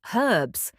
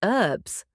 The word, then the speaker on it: herbs: Americans drop the H completely. It's just herbs. But the British keep it, herbs, like the name Herbert. Although, to be fair, some British dialects do drop the H, Cockney English, for example. True, but when we're talking about standard British English, what they call received pronunciation, the H stays.